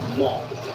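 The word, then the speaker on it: Man: We drove to the city of, it's spelled M-A-N, but you pronounce it Mont.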